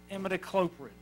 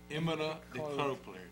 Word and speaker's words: Imidacloprid: Would pronounce it one more time? Imidacloprid. Imidacloprid.